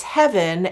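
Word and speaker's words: Hevyn: included and i remember i couldn't quite figure out the name of this because it's spelled h-e-v-y-n and one of you one of my viewers actually said it's heaven and it's sort of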